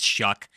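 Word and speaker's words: Shough: I'm sorry I keep saying Suge. It's Shook. It's pronounced Chuck.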